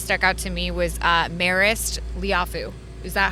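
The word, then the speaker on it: Marist Liufau: So one of the guys that kind of stuck out to me was Marist Liafu. Is that how I pronounce his name Yes, correctly?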